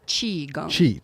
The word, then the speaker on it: Qigong: Britta Stump, author, and then is it Qigong? How do you say it? Qigong.